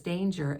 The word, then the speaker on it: danger: is the same as danger except for that beginning D but the pronunciation changes from a hard G to a soft G what about this word